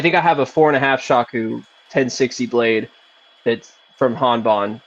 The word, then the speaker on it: Shaku: Saku? Is that how it's pronounced? 5 Shaku.